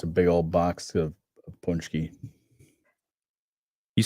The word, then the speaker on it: paczki: Or the punchki. Yeah, I love punchkis. I do want some punchki. Spell it.